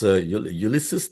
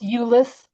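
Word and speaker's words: Euless: Ulysus, Texas. What is the Yeah, it's pronounced Ulis. Ulis, Texas.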